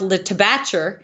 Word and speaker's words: La Tabatière: You go to another town, it's called La Tabatière, which is a French word, but it's pronounced Le Tabatcher, and it's English people.